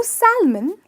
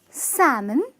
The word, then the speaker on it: salmon: no almond it's almond similarly know Salman it's salmon with the L being silent now this one the